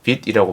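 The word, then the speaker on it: Vite: 네, vit이라고 발음합니다.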